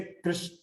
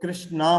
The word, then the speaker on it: कृष्ण: अब जैसे कृष्ण, फॉरेन के लोग कृष्णा बोलते हैं, रामा बोलते हैं, तो असल में तो शब्द क्या है, राम है, रामा नहीं है, कृष्ण है, कृष्णा नहीं है।